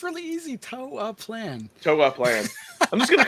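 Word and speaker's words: Toaplan: Toa Plan.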